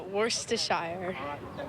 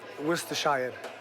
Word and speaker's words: Worcestershire: It tantalizes the taste buds, but pronouncing its saucy name twists the tongue. Worcestershire? Yeah, Worcestershire.